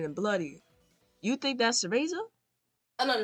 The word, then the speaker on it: Cereza: Oh, Cereza. Oh, sorry. Cereza. So you're saying this one right here in the teaser trailer who's shooting and bloody. You think that's Cereza?